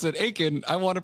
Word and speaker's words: Achen: my name as Aken she really insisted that I go by aen so I'm you know